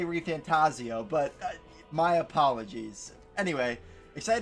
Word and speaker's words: ReFantazio: rebirth with seven and every time Jeff key announced it he said metaphor ref fantasio so I've been saying it wrong but you know